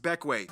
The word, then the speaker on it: Bequia: but if you want the incredibly condensed rundown, Bequia. Yes, pronounced Bequia.